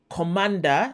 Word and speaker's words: Cmder: i want to recommend a program called commander that's actually how it's pronounced cmder okay it's a